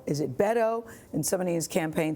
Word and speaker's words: Beto: your name is it bado is it Beto and somebody's campaign says it's Beto like you can bet on him that's a good way